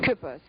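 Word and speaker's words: Küppers: Kripos, it was in German, it's spelled K-U with an umlaut, P-P-E-R-S, but we spelled it K-U-E-P-P-E-R-S.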